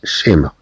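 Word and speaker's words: schéma: على كل حال عندما تأتي الصي مع أش تعطي الصوت ش، ممكن أنها الصي وأش تنضاف لها أس تنطق أيضا كالشين تعطي الصوت ش. مثلا عندما نتكلم عن كلمة شيما، شيما تخطيط، تخطيط إلى غير ذلك، إذا نتكلم عن شيما إذا أنها تنطق هكذا.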